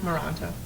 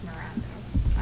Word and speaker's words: Moranto: How do you say your last name? Moranto. Moranto.